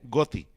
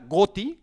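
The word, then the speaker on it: ghoti: pero a la vez esa palabra gotti que se podría pronunciar fish y la siguiera letra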